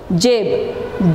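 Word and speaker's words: जेब: Jab. J-A-B. Jab means pocket. You pronounce it as jab.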